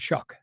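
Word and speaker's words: Shough: g h oh but it's called shuck shuck y all right so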